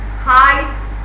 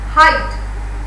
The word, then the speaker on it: height: But in the second cloud, you can say delight, height, light. See, delight, height, light, or fight. GH has no voice or no sound. It is silent.